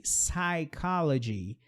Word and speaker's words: psychology: PS vai ser apenas um som de S. Psychology, que é o psicólogo.